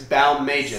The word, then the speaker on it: Balmages: For the record, nobody can say his name right. It's Balmages.